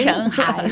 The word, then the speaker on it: Shanghai: Shanghai. Shanghai. Eu falo com a pronúncia chinesa, Perfeito.